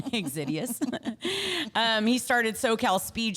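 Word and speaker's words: Xydias: the name um Alex xidious but it's like pronounce it right exidius um he started SoCal Speed Shop I mean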